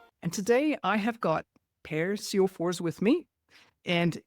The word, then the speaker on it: Per Sjofors: And today I have got Per Sjofors with me. And if I was to pronounce his name in Swedish, you would not recognize it. So that's the anglicized version of his name.